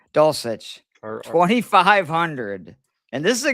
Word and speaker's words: Dulcich: Greg Dulcich or Dulcich, however you say his name. Dulcich, 2,500.